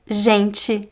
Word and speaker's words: gente: Usually if the letters t e are placed at the beginning of our middle of a word, the pronunciation will be